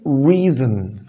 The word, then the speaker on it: reason: اللي بعدها طبعا كلمة reason. reason reason reason بمعنى سبب. قلت لك لما اجي حرف الار في الاول اضم شفايفي. reason reason وقلنا الاو هنا شوع، يعني احاول اخفيها بقدر الامكان واخلي صوته قصير جدا.